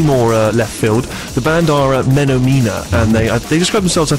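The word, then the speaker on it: Menomena: Apparently you should actually pronounce it Menomina, as in the Muppet song Menomina.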